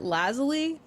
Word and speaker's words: Lazuli: She pronounces it Lazuli.